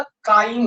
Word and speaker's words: chyme: English में चाइम लिखते हैं, CHYME, लेकिन हिंदी प्रोनाउंसिएशन इसका काइम होता है।